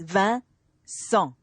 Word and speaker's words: Vincent: most obvious reason is his name wicked in French it's van song right means mine and